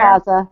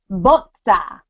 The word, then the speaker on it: Boza: Or you want to say it right? It's Botza. See, if you say it like that, I fall madly in love with you.